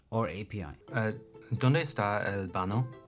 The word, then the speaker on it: baño: ¿Dónde está el baño? The word baño is pronounced ba-ño with a soft ñ sound like in the English word canyon.